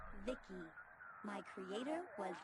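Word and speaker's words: VICI: by the way I'm VI i c i pronounced Vicky my Creator was B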